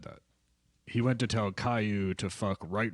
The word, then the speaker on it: Caillou: Caillou? Is that how you say it? Caillou, yeah, Alright.